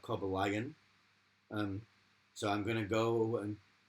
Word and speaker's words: Cobalion: It took me ages to work out that Cobalion. Oh, It was called Cobalion, and not Cobalion.